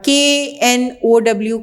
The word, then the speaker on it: know: और KNOW का मतलब होता है जानना, उसमें K साइलेंट होता है और उसका मतलब जानना है।